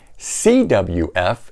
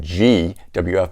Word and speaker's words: CWF: CWF. In the video I said GWF, but you can see why that looks like a G, right?